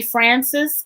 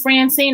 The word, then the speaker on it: Francyne: people say call me francis i correct because yes francis and francine are still two syllables if you can say this you can say they're two different names like they are yeah